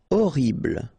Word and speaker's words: horrible: Horrible. Okay, first letter is H, but then we don't pronounce H, so you don't pronounce it. And the first thing you hear is O, horrible.